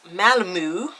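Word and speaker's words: Malmö: bar I was at that it's pronounced malamu so I'll be heading to Malmo at around 12:30 p.m.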